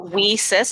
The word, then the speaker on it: WIIS: us right yes um so whis pronounced uh Weis as we sisters um western Canada